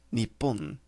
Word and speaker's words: Nippon: This can also be pronounced Nippon, depending on the context.